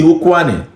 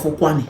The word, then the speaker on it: Ukwuani: That Kwale, it's the pronunciation the colonial masters could make out of Ukwuani. Out of Ukwuani.